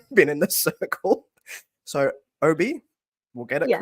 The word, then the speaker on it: Obey: And I am so sorry I've not pronounced your name correctly the entire time that I've been in this circle. So, Obi, we'll get it Yes.